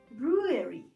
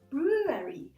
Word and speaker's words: brewery: And when we have a small company which brews beer, which produces beer, there is no much transformation. So u, and then a, ua, brewery. Okay, brewery.